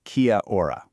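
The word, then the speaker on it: Kia ora: Now, for your first real interaction, Kia or you say it like Kia or this beautiful Mari greeting is basically your allpurpose hello.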